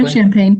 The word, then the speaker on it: Urbana-Champaign: Chow graduated from the University of Illinois at Urbana-Champaign, is that pronounced correctly? Urbana-Champaign.